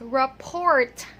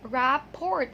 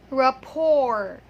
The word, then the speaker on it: rapport: Rapport, it looks like that, but the correct pronunciation of that word is rapport. Okay, one more time. Rapport. Yes, the T is silent in the last the last letter.